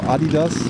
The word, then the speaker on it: Adidas: Adidas is closed, or Adidas as German would pronounce it.